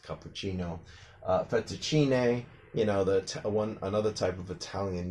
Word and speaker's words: cappuccino: Coffee is very, very popular these days, so most people already know that is pronounced cappuccino.